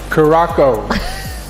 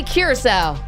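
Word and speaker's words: Curaçao: Caraco. That'd be Curacao.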